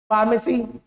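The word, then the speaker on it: pharmacy: जभी भी आप किसी वर्ड में पीए देखते हो पीए है ना तो उसको एफ पढ़ोगे फ ठीक है फ नहीं फ नहीं फ ठीक है तो देखिए इसमें क्या पढ़ेंगे अपन लोग पोए का मतलब एफ लिखा है समझिए एफ एनी पोन फोटो फिजिक्स फार्मेसी ठीक है तो ये सब अपने वर्ड्स हैं।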